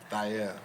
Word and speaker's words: Thair: Oh, That's the real way to say it. It's actually pronounced like that way. Nice. We just said Thair with the American accent, but the dialect is Thair.